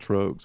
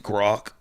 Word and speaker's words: Grok: I call it trogs, but I'm probably wrong. I mean, it's the only way I can think to pronounce it. So. No, it's bad as Gronk, because there's no N in there.